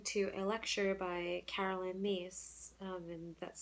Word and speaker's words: Myss: I decided to listen to a lecture by Carolyn Myss, and that's spelled Myss.